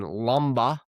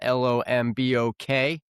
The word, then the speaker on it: Lombok: Right now we're in Lomba, spelled l o m b o k. K is silent, so I learned cuz I got made fun of for saying Lombok, but it's not Lombok.